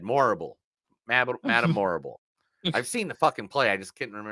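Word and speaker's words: Morrible: more uh it's it's Madame horrible but with an M instead morable Madame horrible I've seen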